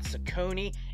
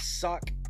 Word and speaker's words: Saucony: So it's not Saucony, it's Saucony. a knee.